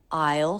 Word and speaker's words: I'll: I'll look for it I will I'll sounds like all I'll look for it